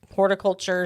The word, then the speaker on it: horticulture: Horticulture, celebration. Like that's what distinguishes it from the other ones, basically. Got to make sure to pronounce the T in horticulture.